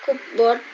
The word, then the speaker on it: cupboard: There is a cupboard next to my bed. Next to my bed. Dibacanya cupboard ya, Alisa ya.